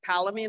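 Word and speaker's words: Palomine: i can find um palamine longlines are probably my favorite halamine yeah it's spelled like palamai palo p-a-l-o-m-i-n-e yeah like palomino but with him instead of an o um i heard you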